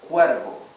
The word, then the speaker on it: cuervo: Same thing with with this word, cuervo. Cuervo means crow, okay, the bird, the black bird, the crow. Cuervo, cuervo. Also, this R is a smooth R.